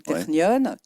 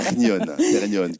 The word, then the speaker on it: Technion: Donc ma prononciation de Technion est parfaite. Alors, je vous le disais tout à l'heure, votre prononciation est parfaite. En hébreu, c'est Technion. En France, Technion. Et je vous le disais,